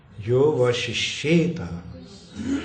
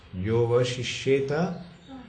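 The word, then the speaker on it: योऽवशिष्येत: Yova Shishyeta, that Ha is not pronounced. Yova Shishyeta, so small.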